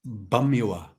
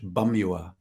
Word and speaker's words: Pamyua: The name of our group is Bamyoa. And the P is a little deceiving, but it's pronounced more like a B in our language, Bamyoa. Mm-hmm. So yeah, excellent. you said it. Bamyoa.